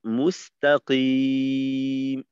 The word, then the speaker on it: مستقيم: দেখেন এই এই শব্দটা দুই ভাবে বলি। একটা হলো মুস্তাকিম একটানে, আর একটা হলো মুস্তাকিম মুস্তাকিম। এই সিনটাকে এমন ভাবে উচ্চারণ করা যে সিনের আওয়াজটা অনেকটা ক্ষীণ হয়ে যায় এবং তাকিম এইখান থেকে এই অংশটা জোরালো হয়। তাকিম এমন না হয়ে একসাথে যুক্ত থাকবে।